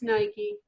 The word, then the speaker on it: Nike: heard one nike everybody nike is it nikkei greek i think so and for some reason i think of it like when i think of the sculpture well i'm just never sure how to pronounce it it's nike okay thank you the people